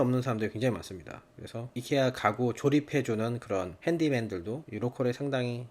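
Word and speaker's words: IKEA: 갔다 왔습니다 왜 미국에서는 아이키아라고 부르는데 옛날에 한국에서 살다가 놀러온 친구가 이케아라고 발음을 해서 한참 제가 놀렸던 기억이 있는데 알고보니이 회사가 스웨덴 회사고 그 나라 발음으로 이케아가 맞더라고요 그래서 깜짝 놀라고 역시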